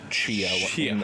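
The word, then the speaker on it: Tchia: it i think it's shia yeah i think that's it it looks very it's spelled t-c-h-i-a i believe they pronounced it as cheo in the trailer uh has a lot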